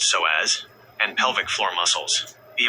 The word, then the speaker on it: psoas: When you feel constant tension here, you are dealing directly with the SOAS, pronounced SOAS, and pelvic floor muscles.